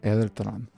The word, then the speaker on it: Edeltron: you kept my secret eletron is my name oh no way no way oliver is also like you gotta be kidding me he's taken back as well how do you say it it's edeltron hairtron that's close enough